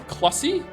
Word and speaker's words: Clussy: Not only is Clussy actually a portmanteau of clown and pussy, it's actually pronounced like pussy with a cl instead. Not like sussy with a cl. So it's Clussy?